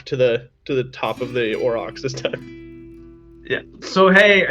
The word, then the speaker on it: Aurochs: Aurochs, right? It's like a huge bison. Aurochs? I don't know. And then he turns in like, Aurochs, that's it, thank you.